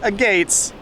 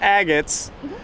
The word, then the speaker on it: agate: But the stones we found earlier are not agates, they're agates. The mammals that were on the rocks earlier making the barking noises are sea lions, not seals.